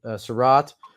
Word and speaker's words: Surratt: We know Saul likes Chaz Surratt. There we go. I always mispronounce it. Surratt.